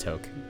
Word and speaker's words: toque: toke toke tok it's pronounced toke well you can we